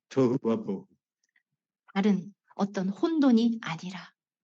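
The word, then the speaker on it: Tohuwabohu: And nothing like tohu wabohu. 다른 어떤 혼돈이 아니라 Not tofu. 부부하고 발음이 비슷하네요. 토후 바 보후인데 Tohu bohu.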